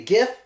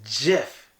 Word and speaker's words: GIF: creator once this pronounced so this shouldn't be gift it's Jeff it's Jeff so it's like Jay I it's Jeff it's actually Jeff I'm surprised too it's